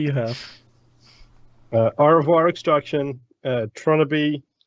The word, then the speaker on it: Tronnabe: Like wannabe replacing the what with Tron. Yeah, I just put Trying Tron to see how and you then spell A-B-E. Wannabe is spelled Wannnabe. Okay, so it should be Tronnabe. Okay.